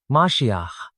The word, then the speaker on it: Mashiach: 受膏者在希伯来语中念作弥赛亚 Mashiach，在古希腊语中译作